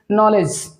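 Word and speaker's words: knowledge: नॉलेज नॉलेज में आपने देखा कि नॉलेज में बहुत सारे ऐसे लेटर हैं जो कि साइलेंट हैं। जैसे कि कह सकते हैं नॉलेज लिखने के लिए NOLEGE से नॉलेज बन जाता है। जो के लेटर है, W लेटर है और D लेटर है, यानी कि तीन ऐसे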